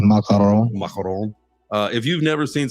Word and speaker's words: macaron: The macaroons, the macaron, I believe. Did I get it there? Yes. A macaron.